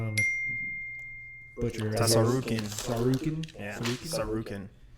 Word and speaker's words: Tsarukyan: Tsarukyan. Tsarukyan? Yeah, Tsarukyan. I think the T is silent.